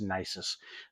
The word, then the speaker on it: Nisus: d by Nexus nysis I always say their name wrong I think it's nysis this is a fantastic